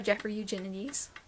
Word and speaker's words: Jeffrey Eugenides: him the next book is middle sex by jeffrey eugenides and yes that is how you pronounce his name i looked it up before